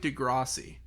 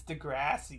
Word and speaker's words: Degrassi: The the other day, speaking of Degrassi, or like I found out I've been pronouncing it kind of wrong. I think I've been saying like Degrassi. It's Degrassi.